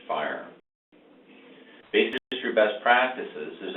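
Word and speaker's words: FHIR: under its context called Fast Health interoperability resources are pronounced fire Bas indry best practices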